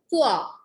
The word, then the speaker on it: pois: Now, peas is called pois. P-O-I-S. S in the end is going to be silent.